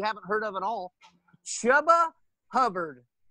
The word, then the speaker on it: Chuba: Next, a dark horse, if you will, a name that you haven't heard of at all, Chuba Hubbard. I believe is how you pronounce his first name, is Chuba, from Oklahoma State.